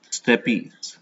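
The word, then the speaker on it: steppes: Asia they are found in they are called Steppy s t e double p e s and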